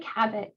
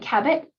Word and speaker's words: Cabot: Meg Cabot, her last name rhymes with habit, as in her books can be habit forming, which is totally true.